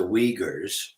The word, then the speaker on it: Uyghurs: was, that now the people, the Uyghurs, it's pronounced the Uyghurs, of course, now they are making history because